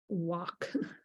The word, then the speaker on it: walk: Walk. How many times do we talk about the fact that L is silent in walk?